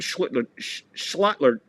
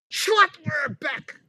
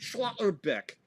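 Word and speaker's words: Schlotterbeck: Hey, she called him slit slutler back. That's what she called Slaughterbeck. Schlattler Beck. Now I know how to say it. Schlattler Beck.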